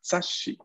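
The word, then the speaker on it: 雑誌: La doble S en japonés. Aquí tenemos la palabra sashi. Sashi. ¿Qué significa revista? Sashi. ¿Todos? Sashi. Significa revista. Y aquí vemos cómo aparece otra vez nuestro querido compañero, el pequeño tsu, a ayudarnos aquí a duplicar la S de la sílaba shi.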